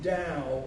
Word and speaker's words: Tao: The Tao Te Ching, and the T in Tao is pronounced like a D.